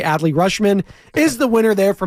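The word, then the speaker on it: Adley Rutschman: say it right but every time it's not Audi rushman AKA adly rushman is the winner there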